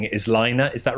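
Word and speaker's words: Laine: Well, surprised that uh I always call them Lane magazine, but I think the posh way of saying it is Lina. Is that right? I think Lina is how they pronounce it cuz it's Finnish, but I think like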